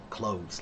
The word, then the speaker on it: clothes: It's the same as the word clothes, like your clothes. Most people when they say the word quickly, the th it just comes out like an S. Close, like close the door.